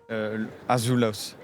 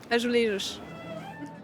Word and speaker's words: azulejos: Azulos, azulas, quelque chose. Azulejo? Azulejos. Azulejos, des faïences qui racontent l'histoire du Portugal et font de Lisbonne un musée à ciel ouvert.